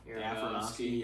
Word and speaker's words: Aronofsky: Aronofsky. Yeah. Aronofsky.